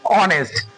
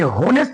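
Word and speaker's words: honest: actual उच्चारण होता है ऑनेस्ट ये होनेस्ट नहीं होता है एच यहां पे साइलेंट है तो हमको जो यहां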